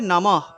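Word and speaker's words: নমঃ: এখানে উচ্চারণ হবে নমহ। বিসর্গ থাকায় বিসর্গ থাকায় এখানে হ উচ্চারণ হবে।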